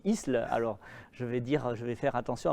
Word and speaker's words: Isle: l'Isle sur la Sorgue, mais qui s'écrit, que nous prononçons ici Isle.